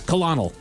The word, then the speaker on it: colonel: Yeah, colonel. Colonel. Well, yeah, we spell it stupid, but yeah.